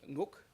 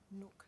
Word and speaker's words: Nguk: The pronunciation is Nguk, born, Maya Maya. Nook. So the G is a silent G.